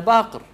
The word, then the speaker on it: Baqir: Ana Baqir. Ana Baqir. Not Baqar." Basically, he corrected him. He corrected him. And he's giving him the benefit of the doubt. That perhaps, you know, you didn't pronounce my name correctly. Yeah. I'm not Baqar. I'm Baqir.